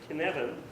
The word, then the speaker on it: Cynefin: All right, it's a Welsh word, so it's challenging. So this framework is pronounced Cynefin, which is, doesn't really matter how it translates from Welsh.